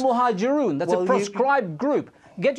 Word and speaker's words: Al-Muhajiroon: You can't even pronounce the name of the group that you've mentioned. It was routinely the case. It's Al-Muhajiroon.